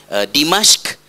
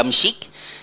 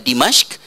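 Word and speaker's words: دمشق: Bani Umayyah, ya, yang berpusat di Dimashq, ataupun orang Melayu telah tersalah menyebut ejaan Arab kepada Jawinya jadi Damsyik, ya, dal mim shin qaf, ya, sebutannya ialah Dimashq.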